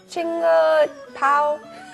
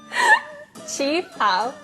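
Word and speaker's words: qipao: Chinga pao? Chi pao.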